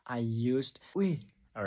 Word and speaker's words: ui: It has two pronunciations, and the meaning will change depending on how you sound and how you pronounce the word. So first, let's learn the pronunciation. UI, we, it means dog, a dog.